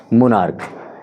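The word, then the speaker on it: monarch: चाहिए लेकिन ध्यान रहे इसका उच्चारण चा ना हो कर के क हो रहा है इसलिए बच्चों हम इसके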